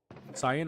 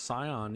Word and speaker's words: cyan: Cyan. I pronounce it as Sai, like in sci-fi, and then an as an ant like cyan.